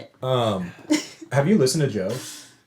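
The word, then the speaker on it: DJO: It's Yeah, but it's pronounced Joe.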